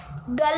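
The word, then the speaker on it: Dal: तो डल लेक, डल आप बोलिए, प्रोनाउंस करिए, ऐसे आपको समझ में आएगा।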